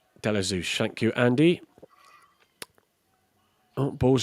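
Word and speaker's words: Ashby-de-la-Zouch: I can never still never pronounce that properly. Delazouch. Deosush.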